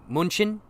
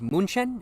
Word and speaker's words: München: Munich would be München, and Cologne would be Köln. Okay, cool. Makes sense. So Munich is München, and Cologne is Köln.